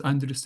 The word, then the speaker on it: Andrus: So the philosophy I've been working on all my life is called, I call it Wondrous Wisdom because my name is Andrus and it rhymes with wondrous.